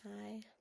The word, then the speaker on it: Ai: I think her name is pronounced Ai.